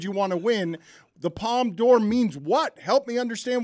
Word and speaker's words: Palme d'Or: I don't know the pronunciation. No. Palme d'Or.